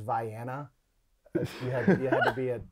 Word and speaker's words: Vienna: banks on facebook said vienna sausage and crackers i believe the actual pronunciation is vianna you have to be